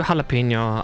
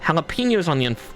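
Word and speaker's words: jalapeño: Jalapenos on the unfortunate end. Also, it's spelled with a J, nature. The J is an H because that's Spanish.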